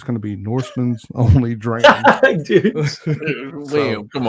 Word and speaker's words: Norssmn: So my tag is Norseman, Norssmn. That's why it's spelled the way it is.